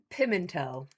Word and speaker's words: Pimentel: Pimento.